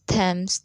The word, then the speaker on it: Thames: Note, th is usually pronounced th or d, but sometimes t. Thailand, Thames, Thomas.